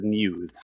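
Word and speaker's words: μ's: They start mispronouncing the name, trying to figure out what it is, and then Umi explains it's pronounced as Muse.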